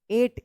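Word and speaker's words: eight: ई आई जी एच टी एट एट पढ़ेंगे।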